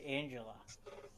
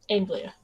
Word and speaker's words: Anglia: Toyota, Tacoma, Ford Fusion, Chevy Cruze, or Ford Angela? I think that's no, that's not how you say it. Anglia.